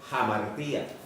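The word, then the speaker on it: ἁμαρτία: referirse a pecado es una palabra que se pronuncia jamartía de donde viene la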